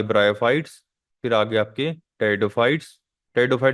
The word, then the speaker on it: Pteridophyta: फिर आगे आपके टेरिडोफाइट्स टेडो फाइट में जो पी है वो साइलेंट रहता है ठीक है उसके बाद